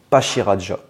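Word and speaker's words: Pachyradjah: deviner celui-là cet éléphant est-ce qu'on le prononce pashirajja ou Pakira pasashirajja ou pakirajja et bien on le prononce pasashirajja c'est un pachiderme avec marajja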